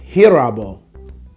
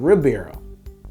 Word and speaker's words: Ribeiro: are people to realize it's pronounced hirabo oh it's carlos hero carlos here barrow not ribeiro hibero what the [ __